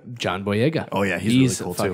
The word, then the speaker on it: John Boyega: John Boyega. John Boyega.